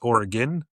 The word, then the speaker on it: Oregon: guys know this, but Oregon is pronounced Oregon.